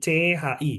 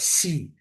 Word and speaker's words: qi: Jadi suaranya itu C. Bukan S ya. Kadang beberapa orang bacanya ngomongnya pakai S. Kayak si. Si. Si. Si. No. Bacanya bukan S. Bacanya C. Tapi tambahin H.